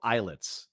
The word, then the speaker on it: Islets: It's called Islets, and it's spelled like islands, but like islets. It's ISLETS.